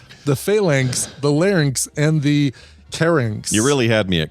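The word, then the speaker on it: carnyx: the syrinx, the phalanx, the larynx, and the carynx.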